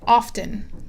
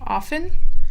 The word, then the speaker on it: often: Então, às vezes o T vai ser bem pronunciado e às vezes você não vai ouvir o T e não tem problema. As duas formas são aceitas.